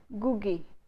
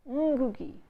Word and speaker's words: Ngugi: So some of us say his name by silencing the n sound, and we say Gugi. Some of us pronounce the first sound and we say Ngugi. It's neither Ngugi nor is it Gugi. It's Ngugi, Ngugi, because none of our languages use this sound in the word initial position.